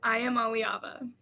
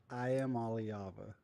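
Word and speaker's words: Iamaleava: It is I am Aliava. I am Aliava.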